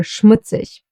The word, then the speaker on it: Schmutzig: The STH will be pronounced as the sound Sh. Like for example in Schnell, or Schmutzig.